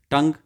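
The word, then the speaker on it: tongue: क्या है साइलेंट है उनको बोला नहीं जाता है टंग टी ओ एन जी तक ही बोलते हैं यू ई लिखा हुआ है लेकिन बोलते नहीं है चौक सी एच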